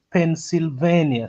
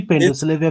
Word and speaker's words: Pennsylvania: Collins amesema inaitwa Pennsylvania, si Pendoslavia venye No, unasema it's Kizito. Pennsylvania. It's pronounced as Pennsylvania. Pennsylvania. Yeah, ndio nilikuwa nawaambia hapa, nyinyi mnaita Pendoslavia.